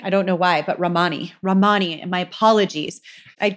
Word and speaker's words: Ramani: saying I guess I think I kept saying Remini I don't know why but Romani Romani and my apologies I'd go back and